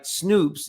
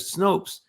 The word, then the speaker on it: Snopes: of Charlottesville miniapolis instead of Minneapolis the website snoops instead of Snopes Leon musk instead of Elon well that's quite